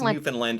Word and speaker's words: Newfoundland: Uh, how you pronounce Newfoundland. Newfoundland. Right. So, Google says it's Newfoundland.